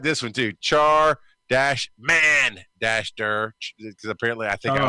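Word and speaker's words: Charmander: Char-man-der.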